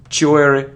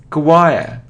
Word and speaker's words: choir: remember it isn't sure it isn't cure or chore no it's choir Quaqua choir choir it isn't coab or